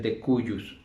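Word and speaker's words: de cujus: la cual nosotros legalmente le llamamos el de cuyos sí o de qurius así se escribe con jota el de cus qué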